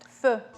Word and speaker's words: pho: So instead of pot au feu, which means pot on the fire, they call it pho. All right, and that's how you pronounce it. Pho.